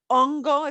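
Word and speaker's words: hongo: to as ongo ace we don't pronounce the h so ungo if you see it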